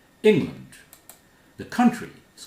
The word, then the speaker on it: England: Land, A-L-A-N-D at the end of a word is land, not land, not England. England.